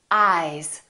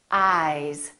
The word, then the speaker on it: eyes: at these two words ice eyes listen to the difference ice eyes this s is actually pronounced as a z sound this is actually z z this is voiced